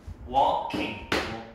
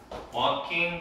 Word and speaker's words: walking: Walking. L 발음 안 해요. Walking 그다음.